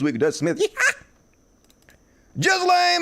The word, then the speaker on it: Ghislaine: Ghislaine Maxwell, and that's how you pronounce her name, Ghislaine. I'm almost 100% certain of that.